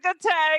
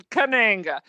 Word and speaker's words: Kananga: Katanga That's from Live absolutely and Let right. Die. He's great. I always remember Mr. Katanga. I'm probably saying it wrong, Kananga. but and that is really Kananga, and that is really the only good non-Sean Connery.